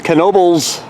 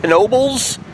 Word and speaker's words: Knoebels: bit but it is Knoebels and yes you do say with the k hey everybody Tom ever